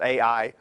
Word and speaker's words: Ai: Jericho and I usually by most people pronounced AI and then the southern